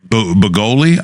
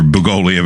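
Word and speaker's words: Bugliosi: And if I'm pronouncing the guy's name, the famous prosecutor / investigator, Vincent Bugoli, I believe is how you say it. Okay. There's an S there, but I think it's silent.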